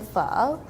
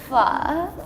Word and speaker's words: Phở: Yeah, and then pho. So a lot of people say pho, but it's not how you say it. You have to say it's pho, you know? Pho. Yeah. Phở.